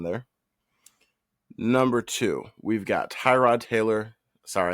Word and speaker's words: Tyrod: Number two, we've got Tyrod Taylor. Sorry, I think his name is pronounced Trod. Trod Taylor for the Jets.